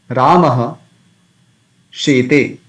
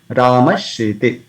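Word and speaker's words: रामः शेते: Then instead of visarga, we can pronounce this talavisha. For example, Ramaha shete. Rama sleeps. Ramaha shete. So we can say Rama shete.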